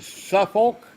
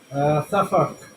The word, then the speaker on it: Suffolk: You're in Suffolk. How do you pronounce that, Matt? Suffolk.